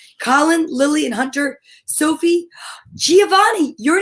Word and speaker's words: Giovanni: pretty cool name and do you understand that giovanni sounds exactly like the letter g but it's also a different sound it's the soft g sound instead of the g good it's j giovanni it sounds almost like the letter j then we have graceland